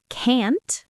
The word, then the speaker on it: can't: Fourth, say the t clearly in can't.